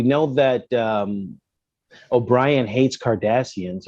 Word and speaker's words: Cardassians: He almost He hates them so much he doesn't even call them Cardassians. He calls them Curdassians. Oh my god. calls them the Curdassians. I'm like, it's five seasons in and he's still mispronouncing it.